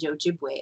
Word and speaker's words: Ojibwe: sure on it because the w e at the end's pronounced way is is that's how they would pronounce w at the end and ojibwe as well but that's